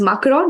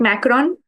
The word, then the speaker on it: Macron: Emanuel macroon and again you pronounce it as macroon not macron right it's not that Ma it's mro mro okay yeah so the